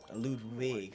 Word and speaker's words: Ludwig: Ludwig, and with a V, I remember sir memory serves. That's how you pronounce it.